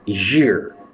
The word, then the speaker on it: year: So when there is a Y starting the word from Y, so we call it year. We pronounce it like year, not ear.